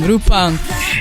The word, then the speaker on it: Lupin: My personal favorite was none other than Kara Lupin, or Rupang. You pronounce it in Korean, Rupang.